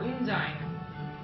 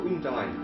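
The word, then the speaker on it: Undine: there we go so so unin or unine I don't know I always said un but I can't tell as long as I can spell it unine okay u n d i n e u n d i n n e One n u n d i n e yeah like undying but yeah it's yeah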